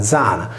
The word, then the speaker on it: Diana: Diana si pronunciava Zana, esattamente come oggi nel Nuorese è detta la Giana sarda, quando tale nome si trova in posizione intervocalica.